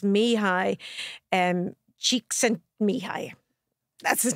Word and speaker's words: Mihaly: pronounce the way I do it is is phonetically. So it's Mihi um Chiken Mihi.